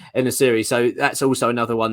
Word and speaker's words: En-Nesyri: It's En-Nesyri, mate. En-Nesyri. I always get it wrong. El-Nesri, I was calling, but yeah, En-Nesyri.